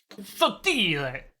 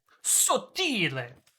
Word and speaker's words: sottile: Sottile! Sottile! The proper pronunciation.